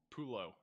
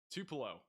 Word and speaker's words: Tupelo: How do I pronounce Tulo in Mississippi? It's over here. pronounced Tupelo. Tupelo.